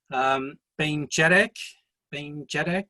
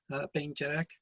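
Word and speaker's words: Beinn Dearg: Bain Jedek, I'll just give you our pronunciation so you hear the slight differences perhaps from your own.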